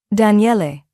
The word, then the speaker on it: Daniele: Daniele. He pronounced it carefully, all 3 syllables distinct.